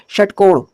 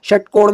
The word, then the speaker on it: षट्कोण: इसके उच्चारण में जो हमारी जीभ होती है वो ऊपर अह मूर्धा को टच करती है। ओके? जैसे इसका उच्चारण करेंगे तो षट्कोण। ठीक है? षट्कोण में क्या हो रहा है?